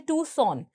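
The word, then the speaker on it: Tucson: देखिए इसकी हम अगर प्रोनाउंसिएशन की बात करें तो इसमें जो सी है वह साइलेंट होता है। सी को हम प्रोनाउंस नहीं करते। हम कहते हैं टू और सोन यानी हम कहते हैं टूसन।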